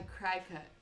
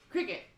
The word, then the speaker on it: Cricut: A cry cut. I thought it was called a die cut or something. Pronounced like the bug. Cricket.